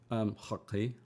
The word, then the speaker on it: Xoqi: X, and then how do you pronounce the X in XOQI? Hockey.